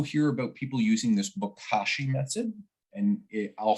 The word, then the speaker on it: bokashi: composting i also hear about people using this bokashi method and i'll spell it out just in case somebody's listening it's